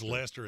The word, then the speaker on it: Leicester: Yeah, that's the official English, British pronunciation. I still maintain if it's Lester, it's Lester.